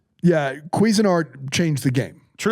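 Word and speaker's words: Cuisinart: No, it's Quezin Art. Quezin Art. Why? Cuisine is spelled different.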